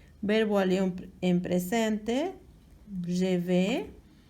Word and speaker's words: vas: Dice vas, ¿verdad? Se escribe vas, se pronuncia va.